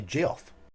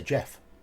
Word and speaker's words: Geoff: the grand duchy of I've heard people say Geoff I'd say Jeff because there's always a way